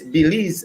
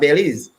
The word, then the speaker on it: Belize: fact that's where i learn is belize and not bellies because i grew up saying bellies they corrected me and laughed to say we could tell you come out in the caribbean our country's pronounced belize all right yeah that's why